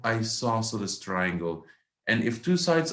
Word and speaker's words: isosceles: triangles what's the second one how do we pronounce this it is isosceles isosceles triangles i saw sort of triangles that